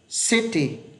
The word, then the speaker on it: city: Thì từ này âm này phát âm là gì? Sit. Âm này phát âm là gì? T. Ghép hai âm vào, nhấn vào âm này này. City, city, city.